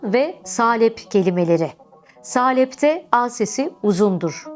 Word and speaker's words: salep: söylemek gerekiyor Nisan ve salep kelimeleri salepte a sesi uzundur salep salebin orijinalinde ayın harfi vardır Zamanla sahlep şekl H sesiyle de dilimize yerleşmiştir ama günümüzde H sesi kalkmış Artık salep olmuş Nisan kelimesinde ise il